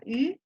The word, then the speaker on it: eu: Ok, Vladimir, Tu as eu? tu as eu, hein, Tu se as escribe eu. EU, pero se pronuncia U, ¿Qué es este?